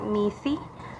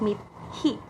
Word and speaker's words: mithi: You might read the next word as meat or maithai or mithi, but you should sound and read it as meat he.